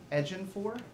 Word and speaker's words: Ejiofor: And the name of the actor who played the operative was Chitel Ejiofor, I believe you pronounced it.